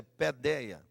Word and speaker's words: paideia: na pedia ou paideia escreve paideia mas a pronúncia é pedia criai-os desde pequenininho desde